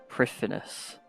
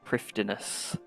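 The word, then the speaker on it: Prifddinas: you're on stream, like it's pronounced Prifinus, not Prifdinus.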